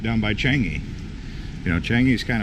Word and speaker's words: Changi: or not done by Changi you know Changi is kind of far away from here or chun-hee as they would pronounce it anyway that'll wrap it